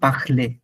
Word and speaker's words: parle: জো, আমার main verb ছিল পাখলে, কিন্তু এটা হবে উচ্চারণটা জো পাখল। টু সেম, একদম সেম, পাখল।